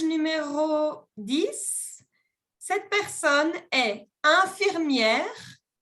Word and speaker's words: infirmière: est jardinier image numéro 10 cette personne est infirmière infirmière infirmière sculpteur sculpteurteur ou bien chauffeur chauffeur chauffeur